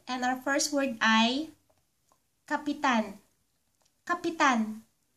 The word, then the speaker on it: kapitan: If you pronounce the word Kapitan, Kapitan, it means to attach or put something.